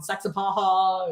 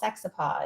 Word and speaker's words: Saxapahaw: There's like the Haw River, and there's a town Saxapahaw. And yes, right. Yeah, I can't even. Yeah, they don't say the extra syllable. Saxapaw is what they say, but it's Saxapahaw.